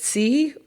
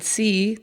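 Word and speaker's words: Xi: And um Putin and I believe you pronounce it C, the leader of China.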